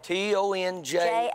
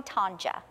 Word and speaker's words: Tonja: T-O-N-J-A. J-A. No some, Y. No Y. Just a J. Just a J. All right, okay. Some people call me Tonja. But it's pronounced Tonja.